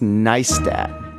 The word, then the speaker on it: Neistat: and van nice tat it's pronounced nice dad nice like rice or ice or mice here's a little anecdote